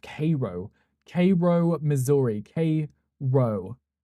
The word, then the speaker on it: Cairo: Cairo. Like Cairo. Like almost like Egypt, right? Cairo. But it's Cario.